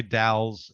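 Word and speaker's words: Dalles: the something and but also spelled D L L es yeah and they say dalls as opposed to Dallas but there's also a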